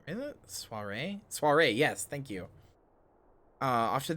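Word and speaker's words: soirée: Soiree, yes, thank you.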